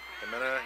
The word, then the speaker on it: Jimena: It's like H-E pronounced. Okay. Jimena, yeah.